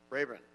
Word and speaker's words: Rayburn: see here we have lee robin raven very close raven rayburn yes thank you sir sorry for mispronouncing your name you've got one minute